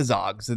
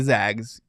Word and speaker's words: Zags: respect on this they're not the zogs the zags Gonzaga oh [ __